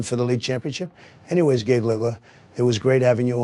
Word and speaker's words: Gaugler: Only thing is he pronounces his last name Gaugler, but no worries, you did great.